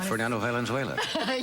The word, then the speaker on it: Fernando Valenzuela: Yeah, Fernando Valenzuela.